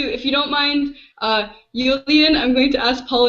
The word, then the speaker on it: Iulian: it's yeah uh my my romanian name is only spelled with another initial letter if you want to try romanian i can i can tell you that pronunciation oh boy okay go for it okay it sounds like latin it's julian oh that's not so